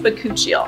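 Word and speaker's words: bakuchiol: fantastic this moisturizer is infused with bakuchio i think that's how you pronounce it computer it's pronounced but coochie thank you and this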